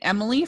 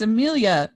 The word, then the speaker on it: Amelia: great because we've seen Emily for some time and then she went on her Instagram last year and she's like it's not Emily it's Amelia like okay yeah how you